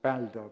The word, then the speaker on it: Balder: Balder, which actually should be pronounced Balder, because Balder is the Nordic god for light. It doesn't refer to anybody getting older.